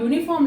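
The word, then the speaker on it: uniform: ऐसे ही जब आप यूनिफॉर्म लिखते हैं तो वो लिखा तो यू से जाता है लेकिन वो उसका जो उच्चारण है वो यू होता है, इसीलिए हमेशा यूनिफॉर्म जो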